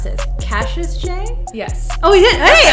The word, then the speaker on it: Cassius Chay: the beautiful, now I don't know how to pronounce this, Cassius Chay? Yes. Oh, we did? Hey, on the first try! What? Yeah! Cassius Chay.